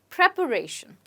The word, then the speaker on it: preparation: a lot of preparation that's right preparation prep shin let's look at an